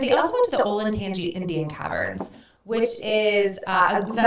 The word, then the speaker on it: Olentangy: in Columbus, and they also went to the Olentangy Indian Caverns, which is a Is that how great you say that? Do you know place. that I've always said Olentangy? Oh, it's so wrong. Olentangy.